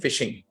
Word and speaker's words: phishing: common practices that you've heard is something called fishing fishing if I spell it for you it's p h i s